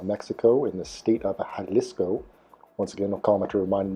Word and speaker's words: Jalisco: you saying so i i believe it is jalisco so thank you commenter for correcting me for